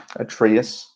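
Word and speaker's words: Atreus: Atraus. Then I'm Am I pronouncing that correctly? Atraeus.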